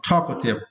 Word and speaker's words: talkative: you the words are talkative and for this course right you need to stretch the first syllable talk talkative yeah talkative it means liking to